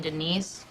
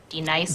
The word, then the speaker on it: D-Nice: Do you mean Denise? Son of a bitch! You say your name right now. Denise? Say it right. Denise. Correctly. Denise. Right. Denise. Right. D-Nice. That's better.